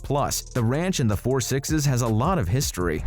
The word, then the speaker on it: Four Sixes: four digit number and people are officially calling it The Four sixes now don't go on pronouncing it as 666 or 666 because we've already told you what's the right way of saying it we're expecting the